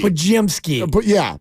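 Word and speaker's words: Podziemski: Well, there's an M between the Zy and the ski. It's hard to say ski. Ski. Pajemski. But pod and then Zy like pie. Yeah. And then ski.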